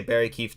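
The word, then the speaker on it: Barrie Keeffe: I'm like, oh, they just say Barry Keefe too, so I guess we could just spell my last name different if we want.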